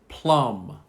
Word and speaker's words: plum: And then a fruit, which is not on here, plum.